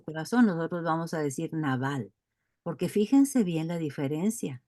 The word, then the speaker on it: Nabal: Bueno, así se pronuncia como con nuestro castellano, Nabal, pero Nabal era un hombre malísimo, y se portaba muy mal con Abigail.